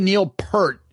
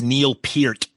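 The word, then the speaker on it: Peart: I love the Neil Per. Am I saying it right, Tom? No, it's Neil Pert.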